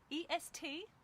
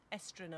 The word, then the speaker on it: estrenar: E-S-T-R-E-N-A-R. Estrenar. You pronounce it as you say it.